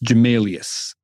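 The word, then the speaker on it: Gmelius: fantastic so what is the how do you spell that uh g m e l i u s jamalius there are a bunch of other uh cool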